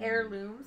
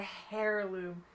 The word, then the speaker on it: heirloom: 119 woven hair woven heirlooms is retired it says heirlooms yes it's it's like it's you don't pronounce it it's it's a not a hair loom it's a heirloom but i don't